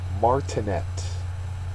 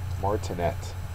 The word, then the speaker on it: martinet: something up number 11 martinet martinet uh the last syllables the accented one the third syllable it is a noun